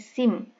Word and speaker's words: SIM: Nah, ini merupakan kumpulan dari huruf pertama, tetapi dia bisa dibunyikan atau dibaca menjadi SIM. Jadi membacanya SIM, bukan SIM tapi SIM. Karena ini bisa dibaca SIM, maka ini termasuk akronim.